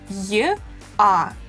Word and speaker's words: я: Я, these are 2 sounds y, a, ya, ю, y, u, you, е, y, e, ye.